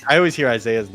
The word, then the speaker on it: Isai: always mispronouncing my tag you know how long i said isai in my head before i knew i pronounced isaiah because i just just knew